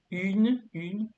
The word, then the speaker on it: une: So the pronunciation is une. You have to part a little bit, yeah?